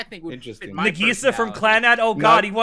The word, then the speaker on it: Nagisa: Alex, how did you pronounce that name? Kokoa? Nagisa. He said Nagisa. Nagisa. Nagisa. Nagisa. No, it's Nagisa.